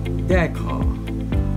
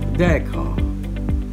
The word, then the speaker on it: decor: Number eight, let's talk about the word that in British English, the word would be pronounced decor, decor.